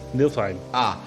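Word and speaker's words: Niflheim: How do you pronounce that? That's the opposite of Valhalla. Nilfheim.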